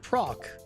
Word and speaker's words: proc: it's I pronounce it proc p r o c even though the word is procedural with an S but you say it with a K when it's shortening that so because a fairly